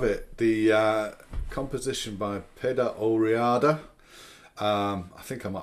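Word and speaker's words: Peadar Ó Riada: there we have it the uh composition by peda oriada um i think i might have called him sean uh so my apologies for getting his name wrong at the beginning yeah it's pedo riada heart player so yes it's not a very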